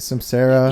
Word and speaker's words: Cymcera: Cymcera?